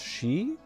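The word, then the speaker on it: sidhe: this is very personal it's pronounced she s i d h e it's pronounced she I'm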